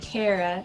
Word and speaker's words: Cara: would say actually my name is pronounced Cara like I care a lot I care about you